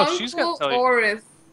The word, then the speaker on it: Oris: Oris.